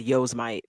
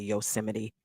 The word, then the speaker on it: Yosemite: so um you know that's why I said Yo's might because that's what a lot of people call it because that's how it's spelled but it's actually Yosemite Yosemite yeah Yosemite National